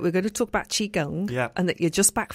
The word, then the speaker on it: Qigong: word Qigong that's right am I even saying it correctly yet she gone I mean again I'm sure that classic Chinese speakers would tell us that maybe we can pronounce it much better than that but yeah for the purposes of us us Westerners Qigong is close enough and it's a it's